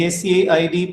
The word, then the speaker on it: Said: Now, Edward Said, S-A-I-D pronounced Said.